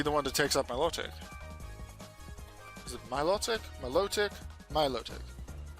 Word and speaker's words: Milotic: Could be based on Aquatic, on Exotic. So that's Milotic. The O has the stress.